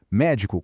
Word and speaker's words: médico: Médico com a força na primeira sílaba e com acento é a profissão.